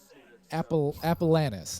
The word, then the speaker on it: Appellanes: But like, my last name, Appellanis is what it sounds like. Like phonetically, it's Appellanis. It's spelled Appellanes.